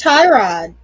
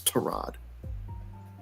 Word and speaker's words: Tyrod: Taylor it's trod Taylor I thought it was Tyrod no it's trod I think it was a thing a year or two ago where they it came out that we were all saying his name wrong the whole time it's it's trod I mean it seems